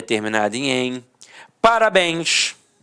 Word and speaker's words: parabéns: Parabéns. Repare que a sílaba tônica é a última e é terminada em ens.